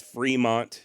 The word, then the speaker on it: Fremont: I am fully aware the pronunciations do change over time and currently here in the United States Fremont is correct you live in Fremont